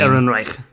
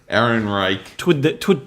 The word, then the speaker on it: Ehrenreich: Ehrenreich. Ehrenreich.